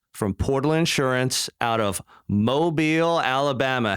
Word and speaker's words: Mobile: on Bradley flowers from Portal Insurance out of Mobile Alabama how you doing today Bradley I'm great